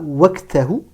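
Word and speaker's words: وقته: Prononcez bien le qaf comme un qaf emphatique. Ne dites pas waqtahu. C'est waqtahu. C'est pas évident, puisque d'autant plus que le qaf porte un soukoun.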